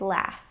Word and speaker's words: laugh: There's not too many words where the gh sounds like f. So, let's review those next. I'll say the word a couple of times and I'll also read a sentence with the word. Repeat the word and the sentence after me. The first word is laugh.